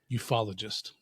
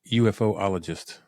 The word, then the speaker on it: ufologist: Ufologist. UFOologist. Ufologist. Really? That's how they pronounce it.